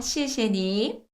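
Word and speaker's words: 谢谢你: 여기서 꿀팁 갈게요 여러분 제일 마지막에 삼성으로 끝났잖아요 그러요 삼성을 다 읽지 않아요 오느 세월에 시시니 이러 했어요 자연스럽게 읽어 보시죠 시시니 시시니 시시니 읽는 듯 안 읽는 듯 그냥 대충 읽어 주셔도 알아들 고마워요 시시니 시시니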